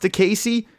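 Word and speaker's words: Diakiese: the guy's name it's it's d-i-a-k-i-e-s-e but it's pronounced to Casey easy enough with the ridiculous of most ridiculous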